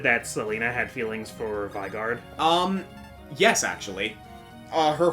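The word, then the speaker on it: Vigarde: I've always said vard but yeah but like vigard actually makes a lot of sense now that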